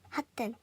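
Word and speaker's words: 発展: 그래서 발음할 때 핫텐 이런 식으로 발음을 하신 것도 틀린 건 아닌데 뭔가 이런 식으로 티귿을 의식을 하고 핫텐 이런 식으로 발음을 하면은 이게 좀 다르게 느껴져요.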